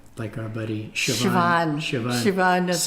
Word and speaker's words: Siobhan: Doesn't look like it, but that's how you No, say it's one of those names like our buddy Siobhan.